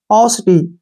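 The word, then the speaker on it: paucity: पी ए से क्या बन गया? प, ठीक है ना, और यू का उच्चारण ऊ हो गया, और सी का उच्चारण यहाँ पे स होगा, और आई से ई की मात्रा, टी से टे, और वाई का उच्चारण ई के रूप में करेंगे।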